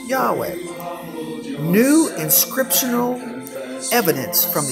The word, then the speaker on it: Yahweh: Hebrew Tetragrammaton why hw8 traditionally pronounce Jehovah is now known to be correctly about vocalized Yahweh knew inscriptional evidence from